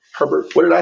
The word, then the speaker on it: Herbert: Herbert. What did I say? Hubbard.